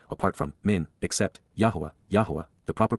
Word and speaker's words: Yahowah: The root of the title chosen by the Almighty apart from men except Yahweh Yahwa. The proper pronunciation of the name of Aloa God as directed in his Torah teaching regarding his high existence and our shalom restoration.